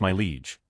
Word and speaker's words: Mileage: for a kid named Mileage pronounced my leege like you would refer to a king.